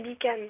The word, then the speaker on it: Bican: Bonjour Bichan. Non, c'est Bican. Ah, Bican, pardon. Zut alors, il faut pas prononcer le che.